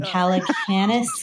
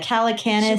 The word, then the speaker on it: Calacanis: Calanis Jason. Uh uh the famous Jason. Yeah. Calidosious. Yeah. Calacanis.